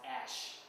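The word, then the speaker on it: æsc: in Old English that's why as ASC is pronounced Ash like the remains of of things when you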